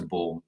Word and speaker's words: Baum: offended by this but my name is pronounced born which is sort of sorry that's all right it's just that it demonstrates your classical education that you pronounce it bound that you you know more than one language so i i'm sorry we're not as well educated as you are and we've anglicized it to ball so all right so